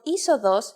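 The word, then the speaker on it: είσοδος: If you sound out the first 2 letters, you get E, but actually you would pronounce the whole combination simply as E. The word isodos uses this combination and means entrance.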